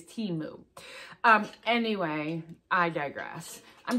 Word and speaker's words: Temu: how to pronounce it it is timu not temu it is Teemu um anyway I digress